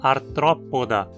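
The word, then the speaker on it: Arthropoda: Nos artrópodes, a penúltima sílaba, po, tem vogal curta também. Então dizemos artrópoda, com acento na antepenúltima.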